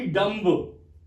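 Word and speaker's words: dumb: और फिर है बी लेकिन बी अगेन यह कोई साउंड नहीं दे रहा है हम इसको बोलते हैं ना की डम इसलिए भी साइलेंट है तो बी के लिए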